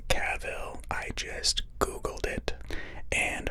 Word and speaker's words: Cavill: reading about henry cavill and yes it is pronounced cavill i just googled it and heard it from